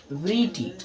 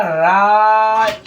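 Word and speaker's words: write: ई T very T तो friends ये आपका बिल्कुल ही गलत है। गलत प्रोनाउंसिएशन होगा। इसको आप क्या पढ़ेंगे? ये देखिए। ये होगा राइट इट। राइट अगर आप पढ़ते हैं तो ये आपका बिल्कुल ही सही होगा। ठीक है? क्यों? क्योंकि यहां डब्ल्यू जो है ना डब्ल्यू इसमें हो जा रहा है आपका साइलेंट।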